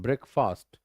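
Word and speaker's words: breakfast: pronounced is this one ब्रेकफास्ट ब्रेकफास्ट कर लिया so that is ब्रेकफास्ट ब्रेकफास्ट ब्रेकफास्ट ब्रेक पे जोड़ दो and this is first नॉटस्ट फास्ट ब्रेकफास्ट ब्रेकफास्ट what do यू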